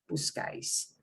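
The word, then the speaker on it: buscáis: This is an S, but the way people pronounce it breaks the rule. It's punching one of these vowels at the very end, not second to last, but the very end. So we put an accent on the vowel that gets the punch.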